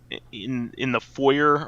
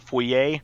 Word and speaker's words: foyer: lighting effects in the foyer or the foyer. Excuse you. Yeah. Say it correctly. In the foyer, actually both are correct. One is just the English version, but of course.